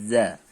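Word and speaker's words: ذ: di halaman 12 adalah Za sama seperti kita melakukan sa digigit Za digigit juga antara lidah berada di antara Gigi atas dan Gigi bawah contoh kalimatnya atau cara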